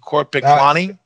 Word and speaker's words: Korpiklaani: it yorko you're the bass player for uh court paklani is that correct yes yes and have i pronounced your name correctly is it corporate yes yes and your name is yarko